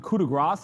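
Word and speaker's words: coup de grâce: Is it coup de grace or coup de grace? Coup de grace. Yeah, you don't pronounce the S there.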